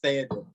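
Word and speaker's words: Théoden: It's not misspelled. It's pronounced Theoden.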